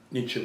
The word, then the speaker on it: Nietzsche: name you just break nietzsche into two parts needs and the first part rhymes with beats the second part sounds like shell without the hole but the pronunciation of